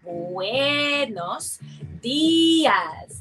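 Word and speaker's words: buenos días: And we notice that letter U and E is coloured in because it's like a we sound. So we say buenos dias. And that letter I is like an E sound.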